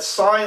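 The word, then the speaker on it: sine: that do things like for example um the sign key sin n it's it's sign is spelled s n but it's abbreviated sinin you've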